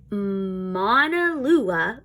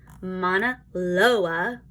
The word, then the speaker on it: Mauna Loa: Mauna Loa. Oops, I said that wrong. Mauna Loa. Nope, said it wrong again. Mauna Loa.